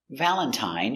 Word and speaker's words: Valentine: Valentine uses the original I sound. I long I Valentine.